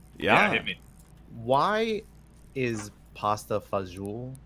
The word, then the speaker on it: pasta fagioli: Why is pasta fagioli spelled the way it is?